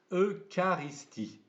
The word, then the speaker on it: eucharistie: comme ils s'écrient voyez ça s'écrit eucharistie mais attention ch ici se prononce que l'eucharistie voilà apprenez bien ce